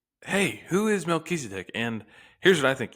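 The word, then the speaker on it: מלכי־צדק: Melchizedek would be, I guess, it's Melchizedek. Melchizedek. It's like two words smushed together. Melech is king. Tzedek is righteous.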